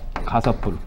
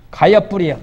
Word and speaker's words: 가섭: 가섭불. 발음을 섭 그러면 섭. 가섭. 입엽자를 가엽불이 아니고 가섭불이요.